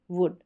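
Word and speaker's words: would: जैसे ये देखिए कुड, शुड, वुड, ठीक है, अब इसमें जो है ऊ का साउंड शॉर्ट आ रहा है।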